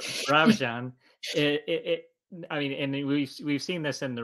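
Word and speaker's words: Birobidzhan: Birabijan. Birabijan.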